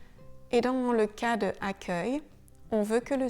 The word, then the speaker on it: accueil: Le C suivi d'un U se prononcera toujours que, comme dans le mot accueil.